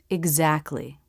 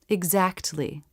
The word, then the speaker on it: exactly: This word has the K, T, L consonants together, but most people pronounce it without the T. Exactly. Full pronunciation, exactly.